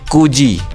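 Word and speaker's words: 九時: Nah, tapi ketika untuk menyebutkan jam angkanya 9 ini diartikan dengan kata ku ya, ku aja gitu. Jadi jam 09.00 bahasa Jepangnya adalah kuji gitu.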